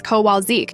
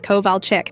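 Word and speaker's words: Kowalczyk: Sara who becomes source instead of Seir Sha but god forbid you say Mrs. Kowalzik instead of Mrs. Koval Chickic. She'll stop mid- lecture to correct you. It's Koval Chickic.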